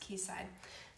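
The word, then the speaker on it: Quayside: I think it's pronounced keyside. Keyside. What is that area?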